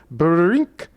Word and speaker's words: brink: From race number 203, Evening Criterium at Groot Amers, May 30th, 1975, I remember the sound brink, pronounced as 2 syllables, that popped into my